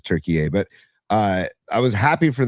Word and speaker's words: Türkiye: little happy for Turkey, or Türkiye is the correct pronunciation. I looked at it today. I'm like, what is the difference between Turkey and Türkiye? And it's just the correct pronunciation is Türkiye.